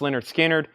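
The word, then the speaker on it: Lynyrd Skynyrd: Pronounce Leonard Skinner.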